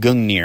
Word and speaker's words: Gungnir: To begin, for his primary, he'd use his spear, called Gungnir, I think is how it's pronounced.